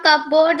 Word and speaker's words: cupboard: Ma'am, I can help my mother in folding clothes, giving things from cupboard and fridge, etc. Cupboard, cupboard, cupboard. P is silent.